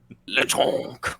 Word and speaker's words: Lechonk: You have to say it like that. Lechonk.